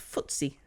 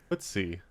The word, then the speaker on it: FTSE: And pronounced FTSE. FTSE.